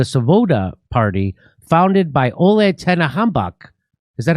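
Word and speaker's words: Tyahnybok: The C-14s was started as a youth wing of the Svoboda Party, founded by Ole Tenehambach. Is that how do you say his name, Max? Tianbach.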